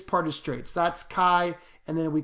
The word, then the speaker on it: chi: little curvy this part is straight so that's chi and then we call it chi squared um you know some people just write that symbol right here and it's pronounced chi squared some people just put chi squared right they